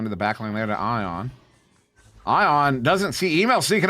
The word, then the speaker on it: Ion: has a similar name it spelled the same but it's pronouncing it so ion eye on the icon makes sense